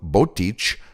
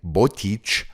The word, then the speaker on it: Botič: to its frequent flooding, has apparently been pronounced both Botič with an I and Botič with a Y, which in modern Czech sounds almost exactly the same, but apparently native speakers can hear a difference.